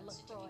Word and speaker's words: LaCroix: no, everybody's going to be looking for a LaCroix and not deposit at finance factors and earn 1.8% annual percentage yield for a deposit of $25,000. You have to say it with the crazy accent, but LaCroix.